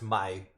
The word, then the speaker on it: Maille: So that was about a cup of oil, 1 yolk, about a tablespoon of Dijon, and it's pronounced maille, obviously, as it's written in French.